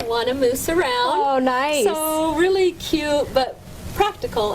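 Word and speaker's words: Gneiss: Anyway, this is called Nice Apparel. And nice is spelled G N E I S S cuz that's a kind of rock you encounter when you're climbing or hiking.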